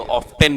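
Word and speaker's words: often: पहले अपन बोलते थे टी साइलेंट है, अब टी आवाज करने लग गया।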